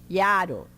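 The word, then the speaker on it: jaro: E aqui está escrito iaro. Iaro. No Esperanto, cada vogal está numa sílaba. Só existe 2 casos, tipo de tongo, que é quando vem o I junto, aí é iaro.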